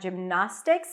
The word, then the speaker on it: gymnastics: then we have na that's the primary stress that's the a as in cat not gymnastics but gymnast and then